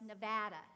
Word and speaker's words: Nevada: person in the field who knows that it's pronounced Nevada.